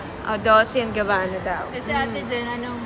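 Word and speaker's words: Dolce & Gabbana: Yung tamang pronunciation. Oh, Dolce and Gabbana daw.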